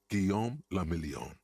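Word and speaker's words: Guillaume Le Million: meant only one thing guillaume lamillion if it doesn't rhyme you're not pronouncing it right out of the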